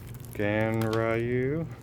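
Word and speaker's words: Ganryu: Gan Ryu.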